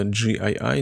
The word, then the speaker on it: JEYI: nvme накопителей от фирмы Ну правильно произносить это gii Но я буду называть GE моделька называется i9 583